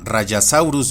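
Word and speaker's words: Rajasaurus: Y aquí unos ejemplos más donde la J se pronuncia como una Y, incluyendo nombres donde el origen etimológico no es grecolatino, donde tenemos a Rayasaurus de origen hindi, Tapeyara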